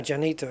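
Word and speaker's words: Llanito: really heard it pronounced yanito I've not heard that janito but is it Gibraltar is it a jubilitarian thing that the Double L is pronounced like a like a soft J anito janitos basically a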